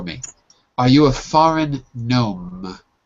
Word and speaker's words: gnome: the pointy hat so the g is silent in both of those words foreign and gnome let's go to mr